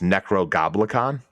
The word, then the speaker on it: Necro Goblicon: It's actually, I think I've been saying it wrong this whole time. It's Necro Goblicon.